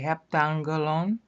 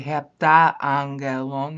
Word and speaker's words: heptangelon: You're going to have to say heptangelon. You can't say heptaangelon. That makes you sound drunk.